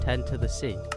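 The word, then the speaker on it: 0x10c: a different name which apparently is pronounced 10 to the Sea it was meant to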